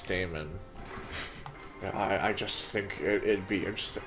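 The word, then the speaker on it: dæmon: beginning of the book diana is pronounced demon yeah but I choose Damon I just think it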